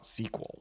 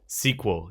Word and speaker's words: SQL: need to know that programmers when they verbalize it pronounce it SQL SQL yes and then you